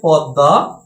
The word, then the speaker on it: পদ্মা: যেমন আমাদের কি হচ্ছে পদ্মা, এই পদ্মার সঠিক বানান হচ্ছে প দ দায়িকায় দা, কিন্তু এখানে ম ফলা থাকার কারণে সঠিক হচ্ছে পদ্মা, অর্থাৎ এই ম ফলাটা